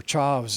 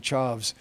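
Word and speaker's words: Chaves: name of chavez or chavs as they said then chavs which is the portuguese pronunciation of chavez lopes like davey lopes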